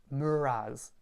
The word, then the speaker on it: meur ras: Another one is thank you, which is muraz.